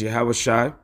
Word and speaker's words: Yahawashi: written as Jesus, but his name is actually pronounced in the Hebrew as Yahawashi, after him, for Israel